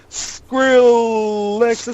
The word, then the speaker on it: Skrillex: We calls him a Skrillex. It's like it rhymes with Rolex.